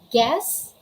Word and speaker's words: guess: the letter u and the letter u comes after comes after letter g letter g then followed by letter u and then after letter u there is a vowel it can be a a e i o u if that's the case you should not pronounce or you shouldn't you should never pronounce letter u what are the examples